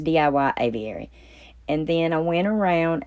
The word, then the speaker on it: Aviary: Oh, Lord, did I say it right the first time? I don't think so. But anyway, it's DIY Aviary.